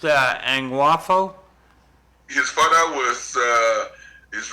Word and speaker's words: Angwafo: visit LEL one day beautiful he his name's pronounced Ang waffo his father was uh is royal king angao